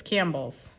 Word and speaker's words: Campbell's: That's what it looks like, but it's Campbell's.